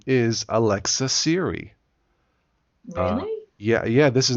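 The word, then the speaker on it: Seary: But the last name is spelled S E A R Y. Siri.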